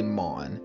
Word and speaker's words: Mon: game called mon mon it's spelt like lawn but with an m so i'm gonna say mon uh how do i